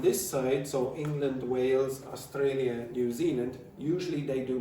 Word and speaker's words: Australia: There are exceptions. You say Australia. Australia. Australia. Australia. Okay? So, but when I say the R's are not pronounced, I mean at the end of words, okay, or at the end of syllables.